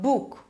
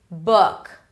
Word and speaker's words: book: So tense and this is the relaxed So it's not book, foot, look. It's book, foot. Lips are not really rounded.